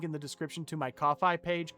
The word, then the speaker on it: Ko-fi: the description to my Ko-fi page. Ko-fi, Kofi, Kof- I don't know how to say it. k o dash f i. It looks like coffee. It's spelled like Wi-Fi. It's coffee.